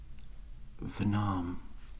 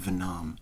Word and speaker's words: Vernam: want me to do venom it's pronounced vernam jack's vanam what's the point in even having a name if people don't bother to learn to pronounce it i might as well